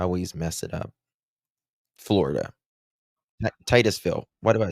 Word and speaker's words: Titusville: She is 18-year-old high school senior from how do you pronounce it? Is it Tootszville? I always mess it up. Florida. Titusville. Why do I say I'm thinking of Texas for some reason? Sorry. Uh, Titusville, Florida.